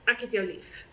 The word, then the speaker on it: ek het jou lief: Akhet jou lief. You can say, this one you can kind of squash the akhet to akhet. Akhet jou lief.